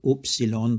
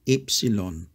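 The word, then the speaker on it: ύψιλον: last letter is Epsilon some people say oopsilon but Greeks say epsilon it is equivalent to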